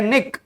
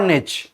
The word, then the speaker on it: niche: कुछ लोग इसको बोलते हैं निक और कुछ लोग इसको बोलते हैं निच, राइट, बट स्पेलिंग सही होनी चाहिए, राइट।